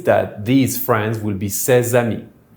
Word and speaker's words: ces amis: This means that THESE FRIENDS will be CES AMIS, don’t forget to pronounce that Z sound in the middle, that’s the liaison.